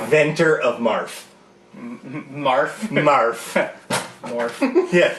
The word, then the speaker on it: Morph: Morph. Yeah, I believe the ability is pronounced Marf and Mega Marf.